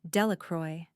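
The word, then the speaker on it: Delacroix: The villagers pronounced this name Delacroy eventually made a great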